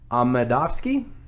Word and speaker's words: Amedovski: You had Krzysztof Jotko taking on Alan Amedovski.